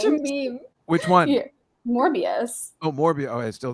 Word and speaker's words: Morbius: yeah it's very strange morpheus was good it got trashed wait morbius i say it wrong right yeah what is it more more peace more bs morbius i said morpheus i liked it i